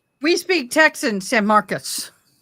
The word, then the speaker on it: San Marcos: San Marcus. Marcos. San Marcos. San Marcos. Marcus. I speak Spanish. It's San Marcos. San Marcos. We speak Texan. San Marcos.